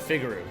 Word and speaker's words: Figaro: first to figaro figaroo i always pronounced it figaroo in this figaro figure